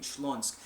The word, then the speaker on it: Śląsk: I think it was in Silesia basically, or what used to be called Silesia, but I think Śląsk is how they say it in Polish.